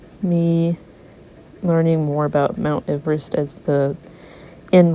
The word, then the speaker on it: Everest: So I want to instead of putting Mount Everest, it would technically be pronounced Everest because of the guy that it's named after.